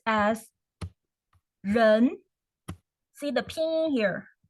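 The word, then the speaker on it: 人: okay okay first first character we see here we have a person a person here so it pronounces as run see the pin here run and is the rising pole so you go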